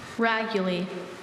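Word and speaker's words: raguly: Raguli.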